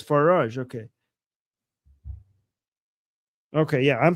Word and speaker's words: Farage: And in the UK, reform leader and staunch Trump ally Nigel Farge.